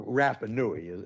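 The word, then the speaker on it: Rapa Nui: And there's controversy about this because oh we're doing the DNA of these allegedly Rapanuans or Rapanoui is the proper way to say it.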